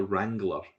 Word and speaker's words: wrangler: role and that is a data wrangler okay with a silent w um it's a person